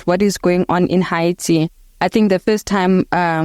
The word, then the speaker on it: Haiti: I have not been in Haiti, so that's how we pronounce the name of the country. It's the indigenous pronunciation, actually, Haiti.